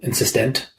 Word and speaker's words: insistent: So, insistent, like a tent, rather than tant.